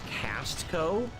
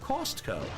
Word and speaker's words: Costco: I notice people in the chat joke about how you pronounce Costco as Castco. I say Costco.